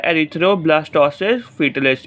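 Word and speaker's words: erythroblastosis fetalis: इसकी जो correct pronunciation जो है वो है एरिथ्रोब्लास्टोसिस फीटलिस। इसमें जो बच्चे हैं बड़ा कंफ्यूज रहते हैं इसकी प्रोनाउंसिएशन में।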